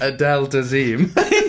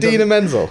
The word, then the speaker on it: Idina Menzel: So I'm especially happy that the actress that played her, Idina Menzel, is that how you pronounce it?